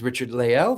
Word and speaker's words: Richard-Lael: Uh, so my first name is Richard Leel.